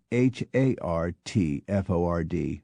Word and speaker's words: Hartford: Thus, Worcester, Ohio, became Wooster, Worcester, and Hertford, Connecticut, became Hartford, Hartford.